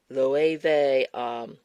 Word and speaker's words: Loewe: e w e i I'm saying it like the way they because I was told